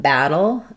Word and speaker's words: battle: So let's take a look at battle and bottle and how you say the T sound in these. So both of these have what's called the flap T.